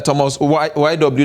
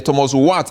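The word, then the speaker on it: Thomas Wyatt: top ging equities are Thomas uh Thomas YW the Thomas wat actually that's the original pronunciation uh uh up there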